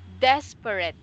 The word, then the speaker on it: desperate: You pronounce it as desperate. Desperate. Like this, not rate, red.